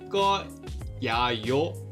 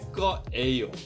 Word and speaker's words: 거예요: I don't know why we do this, but we instead say 할 거예요. So I know this says 예, but then we just pronounce it like 에.